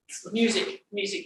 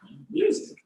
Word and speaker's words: Music: Music is the way you pronounce it. Music.